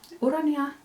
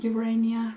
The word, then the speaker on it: Urania: today's video is the urania cardigan or urania depending on how you want to pronounce the name so Ura if you pronounce it in the Finnish way like me so Ania